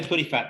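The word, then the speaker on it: Puddephatt: didn't scrabble it too badly how do you pronounce it i say putty fat but you can say how you like you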